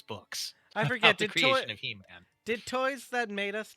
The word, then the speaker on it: He-Man: unique Universe for its Master their new character He-Man he no he man that's how you have to say it but but it's lowercase so oh so hean you're right I pronounce it hemon hemman the the action figure became one of